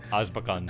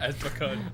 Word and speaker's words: Azkaban: he read it, and he kept pronouncing it Azbakan. Azkaban. Azbakan.